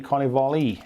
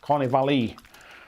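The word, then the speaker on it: carnevale: You pronounce the E, Carnivale. Is that it? Carnivale.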